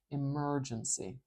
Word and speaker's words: emergency: word here emergency emergency can you hear how the mer merge part is a little bit louder I'm going to put this